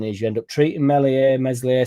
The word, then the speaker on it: Meslier: But what ends up happening is you end up treating Meslier, Silent S like we did.